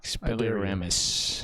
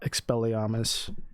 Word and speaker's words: Expelliarmus: If you didn't know already, it's not Expelliarmus, it's indeed Expelliarmus. And that sounds so terrible in an American accent.